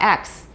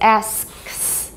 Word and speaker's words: ask: to make an effort you've got three three consonants in a row so if you're just sloppy it'll come out x but it's ask it's not that hard